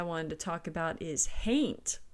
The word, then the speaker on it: hain't: to talk about is hain't which is essentially a pronunciation variation for the word haunt and don't confuse this with